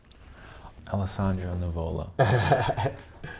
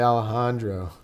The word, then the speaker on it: Alessandro Nivola: think might be true Alessandro navola thank you man I really appreciate this I like you you didn't say Alejandro or alexandrio that's your it's a rare occasion when somebody can say it right they're gonna say it